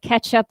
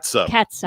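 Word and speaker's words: catsup: or c-a-t-s-u-p and how do you say it ketchup or katsu yeah yeah i wanted to tell you i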